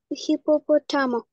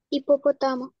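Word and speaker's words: hipopótamo: Просто не читай оцю Ачі. Просто її не читай. Це не Х. Іпопотамо. Іпопотамо. Там на другу це О, там наголос.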